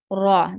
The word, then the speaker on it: ر: خا اینڈ را, خا اینڈ را جو ہے ہم نے حروف مستعلیہ میں سے پڑھے ہیں. را اینڈ خا, را خا را خا, ان کو آپ نے موٹا ہی پڑھنا ہے.